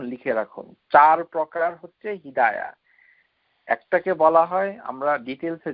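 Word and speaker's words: هداية: আমাদের যত সর্বনাশ হয়েছে হেদায়েত হেদায়েত এগুলো অশুদ্ধ আল হিদায়া এটা তা উচ্চারণ করা যাবে না আল হিদায়া এই যে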